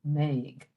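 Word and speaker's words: mbeidh: So that M has wiped out that B, Meg.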